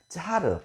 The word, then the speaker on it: 짜르: 카이사르라고 하는 말이 러시아식으로 발음하게 된다고 한다면 짜르 혹은 짜르라고도 얘기를 합니다.